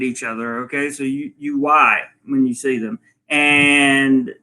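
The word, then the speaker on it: wai: really wave at each other okay so you why when you see them and the higher the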